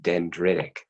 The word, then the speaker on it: dendritic: e d e and D are ITIC it's pronounced dendritic dendritic cells they actually are derived from the